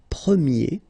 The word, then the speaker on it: premier: change quite much, because if you think about the masculine form, you pronounce it premier, okay? Premier. And then for the feminine form, you will get première. Okay, so it's open, this eh sound.